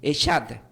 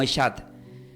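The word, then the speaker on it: echad: Entonces, pero la palabra uno significa del hebreo, quieren tomar notas, se puede deletrear como C de casa, H-A-D, y se pronuncia como Eshad. Se pronuncia como Eshad, la palabra uno.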